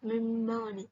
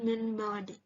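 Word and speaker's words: مِنْ بَعْدِ: ba yang di mana dibacanya mim badi bukan Min ba'di karenalam yang artinya menukar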